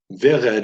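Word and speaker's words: ורד: Vered is a segalet, meaning it has 2 segols that form the basis of it. Also, segalets are enunciated or stressed on the first syllable as opposed to the last syllable. So you pronounce that vered.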